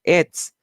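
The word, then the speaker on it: עץ: La primera letra es la palabra Ain y la segunda palabra es Zadi y por eso se pronuncia etz.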